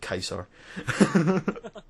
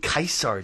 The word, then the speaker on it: Caesar: Because most of this video has been spurned off the question, why do you pronounce it Kaiser?